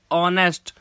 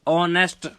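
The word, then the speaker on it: honest: पहले एन क्यों लगाया क्योंकि ऑनेस्ट एच साइलेंट है और वर्ड स्टार्ट हो रहा है ओ से ऑनेस्ट इसीलिए हमने इसके आगे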